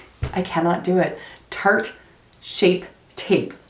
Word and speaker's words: Shape Tape: cannot do it Tarte shape tape I always call it shark tape tape I don't know